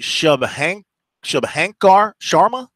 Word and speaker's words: Shubhankar Sharma: Yeah, it's not a pronunciation-friendly scoreboard. We've got, what is it, Shubhankar Sharma?